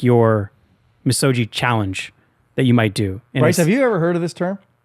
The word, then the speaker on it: misogi: You guys want to talk about massogis? Yes. Is that how you pronounce it? I don't know. Bryce. Bryce. Misogi. You wouldn't pronounce it with a hard G.